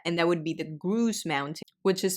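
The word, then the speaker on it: Grouse Mountain: in this area and that would be the gru Mountain which is spelled g r o u s e and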